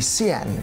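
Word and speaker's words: Sián: then the new Lamborghini C n is for you now yes apparently that is the correct way to say it C n the engineers from sulamita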